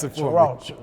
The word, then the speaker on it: Cheraw: That's why I wanted you to pronounce it for me. Cheraw.